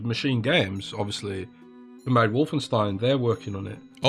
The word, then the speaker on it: Wolfenstein: I mean, I have to tell you, it's pronounced Wolfenstein. I have to tell Wolfenstein.